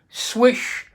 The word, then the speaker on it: Slysz: basically called the Spyderco swish bowie sorry try to go swish-swish-swish s wi s h that is a correct pronunciation of Marcin swishes name we have all